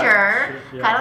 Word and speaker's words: Sheh: So the Americanized version is Sheh. I just say Sheh. I don't know why that's the way you say it. It's just the way it's said. Sounds very Irish. Yeah. I'm not Irish. But the Chinese pronunciation is, you gonna try it? Okay. What is it? Sure. Sure? Yeah. Is it just sure? It's, you gotta say it like a question.